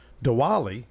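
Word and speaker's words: Diwali: I wanted Scott to call in was uh dwali am I pronouncing it right it's very very good the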